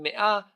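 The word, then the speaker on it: מאה: mia century LF millennium notice that in mia the emphasis is on the second syllable and if it were on the first syllable it would have meant a simple hundred another important thing to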